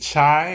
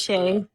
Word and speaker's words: Shay: Is it uh is it Chai or Shay or how do you say your name? It's Shay.